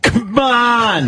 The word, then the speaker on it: C'mon: It's a C apostrophe M O N And how do you pronounce it? C'MON!